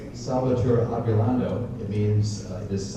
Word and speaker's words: Solvitur: It's pronounced Solvitur, V's or W's in Latin pronunciation. Solvitur ambulando.